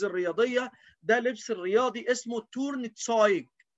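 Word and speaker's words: Turnzeug: ده لبس الرياضي اسمه تورن تسايج، تورن تسايج. ايه تسايج؟ ايوة، لان الاي وراها او تبقى اوي، زي ايه؟ زي فراين، فراي، فراين بالصديق. فهنا اللبس الرياضي اسمه تورن تسايج، تورن تسايج.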